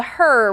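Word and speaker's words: HRRR: And then the other one is going to be what we call the her model or a lot of people call it the her. It's HR RR. So, you know, kind of just phonetically looks like her.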